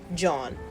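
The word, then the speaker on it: jawn: spell it for you j a w n John it's like Yan but with a J it means anything but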